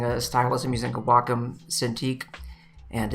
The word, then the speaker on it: Wacom: and said it's great to be here at wacom and they said it's actually pronounced wacom but anyway if i use a brush that